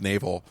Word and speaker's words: Navi: It's pronounced naval. Naval, got it.